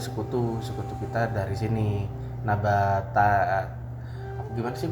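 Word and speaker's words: Nabataea: Nabata gimana sih bacanya? Nabatea.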